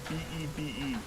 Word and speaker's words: Bebe: But it's not spelled B-A-B-Y. It's spelled B-E-B-E. Bebe. Bebe the bunny.